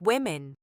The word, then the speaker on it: women: It's actually buhri, women pronounced like woman. Women sounds like women.